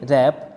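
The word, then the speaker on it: wrap: tasty दोस्तों कहेंगे arrest इसी तरह डब्ल्यू आर जे पी इसको कहेंगे रैप इसी तरह right ore wrong road रैपर इन सभी वर्ष में डब्ल्यू आर साथ में है इसलिए डब्लू साइलेंट रहेगा डब्लू की कोई साउंड नहीं आएगी तो व्यवस्थित यह एब्सट्रूज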